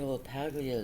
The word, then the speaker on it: LaPaglia: Oh, it's pronounced LaPaglia, not LaPaglia. LaPaglia.